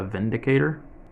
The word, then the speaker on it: Windicator: Windicator with a W. But since this gun is made in Germany, and you know how they like to pronounce their words, I guess you could say it's the Vindicator, but I don't know. I don't know which one they intended it to be.